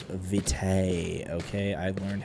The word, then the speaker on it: Vitae: It's Vitae, okay? I've learned how to pronounce that.